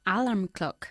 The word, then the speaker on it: alarm clock: Alarm clock. Alarm clock. Alarm clock. Alarm clock. Alarm clock. Enfatizando la segunda sílaba.